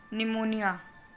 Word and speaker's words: pneumonia: It is pneumonia. P is silent.